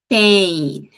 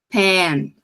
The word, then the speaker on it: pain: iid iid iid certo Pain Pain tendência disparada das pessoas de quererem falar um som mais como Pen p é a caneta